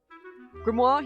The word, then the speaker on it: Grimoire: Grimmoir. He pronounces his name differently to how I say it.